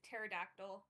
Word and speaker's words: pterodactyl: So, I don't I just I just heard no silent P and like pterodactyl, so I assumed it was the same.